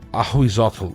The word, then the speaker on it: Ahuitzotl: The Opossom is actually his name and I'm going to butcher pronouncing it but it's Ahuitzotl (Pronounced Ah-We-Zul-ot).